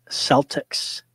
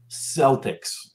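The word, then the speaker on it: Celtx: I haven't written in a couple of years, but I used Celtics. Yep, that's what I use also. Celtics. But it's spelled with a C. Yeah. As in like Celtic, right?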